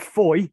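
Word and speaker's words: Fowey: estuary um just off foy uh that is the correct pronunciation you will find um fowwee if you can't find it on a map um f-o-w-e-y uh but foy it's called and what you had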